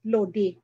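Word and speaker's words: load-i: Again, we spell the word load as it is, then put a hyphen and add I. So it becomes a new spelling, lodi. But in actual, we pronounce it lodi.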